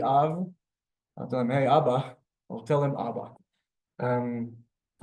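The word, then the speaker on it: אבא: Second word, Abba.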